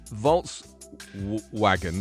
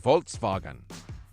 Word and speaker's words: Volkswagen: It's because of the German, that's why. Because it's a German brand, and I'm used to the Germans saying Volkswagen. Because someone picked me up on that once before. They're like, why do you say Volkswagen? It's a W. And I'm like, well, because it's German. You have to say it the way it's meant.